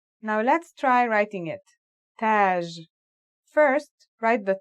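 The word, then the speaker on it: تاج: Tage. Repeat after me. Taj.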